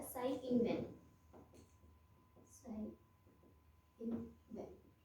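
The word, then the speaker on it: Tsai Ing-wen: और यहाँ के प्रेसिडेंट है, यहाँ के प्रेसिडेंट का नाम भी ई से, जिनका टी साइलेंट रहता है, साई इंग वेन।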